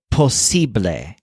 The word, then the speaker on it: posible: Taylor is your sibling the word for possible is posible with a stress on sip like sibling below the Train some